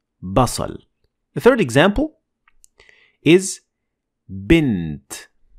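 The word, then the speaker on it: بصل: Basal. It means onion. Notice how we say ba, and it even comes back in how we spell it in English. B.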